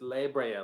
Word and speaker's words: La Brea: I I see like I want to say laa but it's it's laa like Library does that help did that